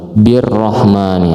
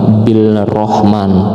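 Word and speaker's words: بِالرَّحْمَٰنِ: Birrahmani, nah ini adalah idgham syamsiyah atau alif lam syamsiyah, jadi bacanya bukan bil rahman tapi birrahman.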